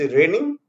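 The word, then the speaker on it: reigning: Next word is रेनिंग। इसका इसमें जी silent रहता है। ठीक है, रेनिंग।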